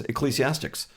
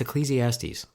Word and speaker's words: Ecclesiastes: first podcast which was ecclesiastics and that was it after that yeah and what's really interesting is you've never pronounced it correctly how do I say it it's Ecclesiastes oh oh sort of